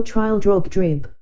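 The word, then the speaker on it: Trildrogdrib: troll dragged up or trial drug trip for it is pronounced both ways as near as I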